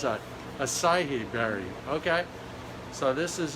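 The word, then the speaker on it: açaí: Ackee berry? How do you pronounce that? Acai berry.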